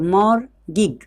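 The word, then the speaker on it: mortgage: अब अगला वर्ड क्या है, MORTAGE, तो हम इसको क्या पढ़ें, मोर गिग, क्या पढ़ेंगे इसको, मोर गिग, MOR मोर, और उसके बाद टी को हम छोड़ दिए, साइलेंट रख दिए यहाँ पे, GAGE गिग,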